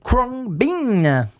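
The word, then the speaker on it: Khruangbin: Prononcé en anglais Kwang Bin.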